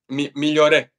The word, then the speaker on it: Migliore: Migliore? Migliore.